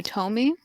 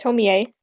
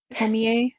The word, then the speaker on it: Tomie: The Tomi? Yeah. Yeah, Tomi is more of I'm just pretty sure it's one pronounced Tomie. Tomie.